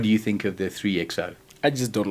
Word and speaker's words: 3XO: today the new Mahindra how do you even pronounce that uh model designation it's the Mahindra 3xo 3xo yes it replaces the uh XV 300